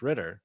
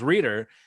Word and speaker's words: Ritter: And then you said, yeah, that would be great if not for the fact that my name is not pronounced Ritter or not pronounced Reader.